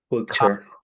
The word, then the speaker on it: culture: En inglés, cuando veas ture, este ture se pronuncia como si fuera chair. Por ejemplo, ¿cómo se dice característica un fee? Chair. ¿Cómo se dirá cultura? Culture.